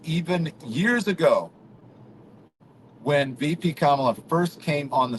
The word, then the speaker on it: Kamala: comma say comma comma La K LA and that's how you say it not Cala now say it again go with me again yeah say it Trump or Kamala there you go Trump